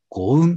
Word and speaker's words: GOUNN: で、まず 1 曲目はね、五雲という。